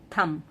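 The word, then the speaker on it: thumb: जैसे कि अगर मैं थंब लिखने को बोलूं थंब but actual spelling is थंब। ये जो बी है यह साइलेंट है।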